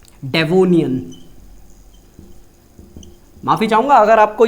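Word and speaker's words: Devonian: ठीक है, प्रोनाउंसिएशन सही कर रहा हूं मैं, बिल्कुल सही कर रहा हूं, डेवोनियन।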